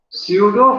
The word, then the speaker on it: pseudo: Pseudo fractures are translucent bands. Pseudo fractures spelling है, इसमें P silent है, PSEUDO, pseudo fractures.